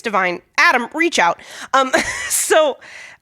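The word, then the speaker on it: DeVine: Um, so, uh, I've I do kind of like I was probably thinking of Adam Lavine. Adam Lavine from Maroon 5. Yeah. Yeah. Yeah. No. And it made me pronounce it weird as Adam Deavine.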